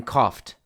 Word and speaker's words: coughed: and the f in coughed. Now keep in mind that coughed has a very irregular spelling. O-U-G-H has many different pronunciations, but in this case, the GH has an F sound.